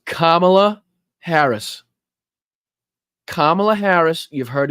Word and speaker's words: Kamala: Person that votes for Kamala is crazy. She wouldn't go to see the prime minister. It's Kamala Harris.